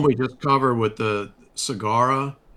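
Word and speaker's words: Sagara: just covered with the cigara that's not a c like cigar that that's actually s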